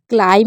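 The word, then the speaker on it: climb: हैं B silent है क्लाइम में हम बी साइलेंट रख रहे हैं थंब में हमारा बी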